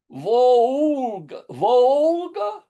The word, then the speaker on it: Volga: Volga. Yeah. Oh, Russians do not pronounce it pure O, but they go oh. Hmm. English go oh. Right, right. Finns don't go anywhere. It's oh, It's all pure vowel.